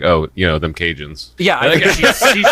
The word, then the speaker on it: Cajun: oh you know them Cajun yeah I think she she's saying she's giving it in a respectful way with she's not C I've ever met yeah she's not saying Cajun with a hard C okay those Cajun she's